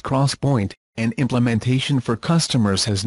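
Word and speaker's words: 3D XPoint: XPO IMT 3d memory pronounced cross point and implementation for customers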